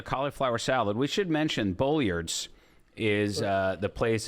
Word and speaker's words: Bolyard's: here called the cauliflower salad we should mention Bullards is uh the place it's called bullard's meat